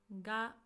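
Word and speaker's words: が: Ga. This is a subject particle. It is pronounced as G and it also can indicate existence.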